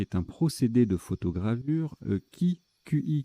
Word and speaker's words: qi: QI, qui se prononce également Chi, énergie vitale dans les pensées chinoises et japonaises.